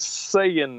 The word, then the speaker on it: Saiyan: whatever he's like yeah we call him Saiyans it's just sayin and I was looking at the I in there going that doesn't look like saying to me but I